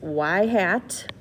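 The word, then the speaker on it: ŷ: in the form of y hat that's literally pronounced y hat is equal to b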